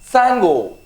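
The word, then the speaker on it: Tsango: Something like Sango. T-S-A-N-G-O. See, here T is silent, right?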